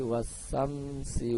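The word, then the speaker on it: والشمس: Cara membacanya, apabila ada alif lam bertemu dengan salah satu huruf 14 huruf samsiyah, contohnya di sini adalah sya, maka alnya tidak dibaca dan dibacanya idgham. Cara bacanya was-samsi waduhaha, ya.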